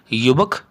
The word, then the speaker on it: युवकः: दूसरा है हमारे पास, ये भी पुल्लिंग शब्द ही है, युवकः, जिसका हिंदी शब्दार्थ होगा युवक या युवा पुरुष और संस्कृत में उच्चारण होगा युवकः।